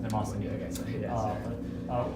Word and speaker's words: Mnemosyne: Often the E is pronounced Nemosini.